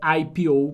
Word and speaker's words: IPO: esse Ipu aqui ó a pronúncia dele é IP ou porque é uma sigla em inglês tudo bem conhecida no